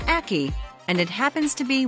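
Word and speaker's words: ackee: give you a hint it rhymes with khaki it's called an aki and it happens to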